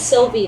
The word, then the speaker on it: Sylvie: two and we do know her name is Sylvie though Sylvie Sylvie how do you spell that s y l v i e Sil